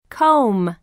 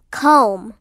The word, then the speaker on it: comb: one um lamb lamb two Co um comb KO um comb three glove glove glove glove four live age 67.